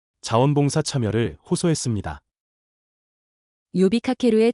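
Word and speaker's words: 呼びかける: 요비카케루의 첫 번째 한자는 불을 호자입니다. 일본어로는 요라고 발음합니다.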